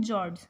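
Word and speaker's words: fjords: भरा रहता है और उन्हें हम बोलते हैं जॉर्ड्स एफ साइलेंट रहता है जॉर्ड्स आर स्पेशली कॉमन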